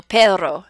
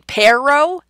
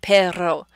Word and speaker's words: perro: It represents that trilled R in Spanish. So perro, perro. Sorry for all my native Spanish speakers who are laughing at that. Go ahead and laugh. So it's the difference between perro, using the upside down R, and perro, using the trilled R.